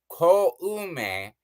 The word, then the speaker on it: Koume: And everybody's like Kome and Katake. It's like, no, no, no. Koume Kotake.